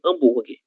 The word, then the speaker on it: hambúrguer: A letra H no português, ela é surda, certo? Então, no começo de palavras. Então, hambúrguer.